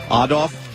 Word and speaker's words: Adolf: Hitler's birthday that's all odd off Adolph as a proper pronunciation and we should be